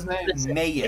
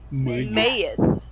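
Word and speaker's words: Meyef: Mayif.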